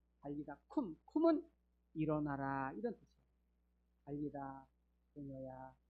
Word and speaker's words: 달리다굼: 굼은 쿰. 원래 발음은 쿰이거든. 달리다 쿰은 일어나라 이런 뜻이에요.